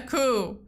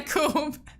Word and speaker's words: coup: one tell me that it's pronounced a coup not a coop the last trip this